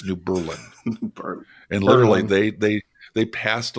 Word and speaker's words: New Berlin: to Milwaukee, Wisconsin, and kept pronouncing the suburb New Berlin as New Berlin. But the third time I did it, somebody finally corrected me and said, "Not since World War II. It's New Berlin."